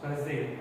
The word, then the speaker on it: chasm: Then chasm, pronounced chasm, a deep opening in the ground.